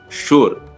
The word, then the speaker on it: sure: There is another word, sure, where also SU is pronounced as shoe.